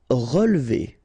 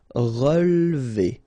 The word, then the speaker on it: relever: Relever, okay, so first re, then we don't insist on this here. So, relever, relever.